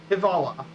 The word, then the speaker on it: hvala: Then there's thank you. It's hvala. It's hivala, hivala.